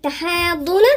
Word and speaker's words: تحاضون: وبعديها كمان ما نجيش نقول تحاضون، لا الضاد هنا مشددة، لازم ننطق الساكن المتحرك، يبقى نقولها 6 وبعدين نشدد شوية عند الضاد. تحاضون، الضون ما نقرأهاش على طول الضاد ونفخمها، يبقى نقولها ازاي؟